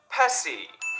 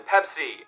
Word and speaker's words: Pepsi: did in argentina they changed their name to pessi see 25 of the population there was mispronouncing their name that way and apparently it is easier phonetically for spanish speakers to say pessy rather than pepsi but still 75 of argentinians were saying it